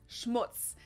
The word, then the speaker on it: Schmutz: on my list is Schmutz this one is pronounced and used the same way in both languages it's much like a